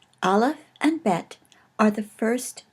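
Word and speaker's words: אלף: The first letter of the Hebrew Alef Bet is Aleph, and it is a silent letter in modern Hebrew. It originally was probably something like just the stoppage of air that you have when you say the word apple. You can see that your throat closes when you say apple, and it probably originally was pronounced that way.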